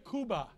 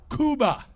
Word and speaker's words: Cuba: in Cuba poles Egon kuba kuba that's how you say it in Spanish hallelujah I'll teach how